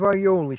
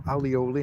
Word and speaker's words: aioli: I've got a bit of aioli still, or alioli, however you want to pronounce it.